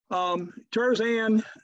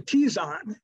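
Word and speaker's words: Terzan: Tirzan, actually Tizan 3 is how you pronounce that.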